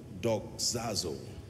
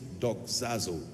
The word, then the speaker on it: doxazo: teaching tonight on a subject that I titled dog zazo I want to teach you how the Saints